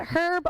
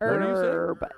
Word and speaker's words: herb: yes let us know is it herb or herb is h silence yes herb is a person herb is ben's grandpa like your uncle okay so herb h is silent h is silent um